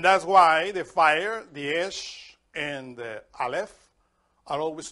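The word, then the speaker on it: אש: And in Hebrew, in order to write fire, you write the letter alf and the letter shin together and you pronounce esh.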